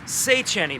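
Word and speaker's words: Széchenyi: Today we are at Szechenyi baths, that's how you pronounce it.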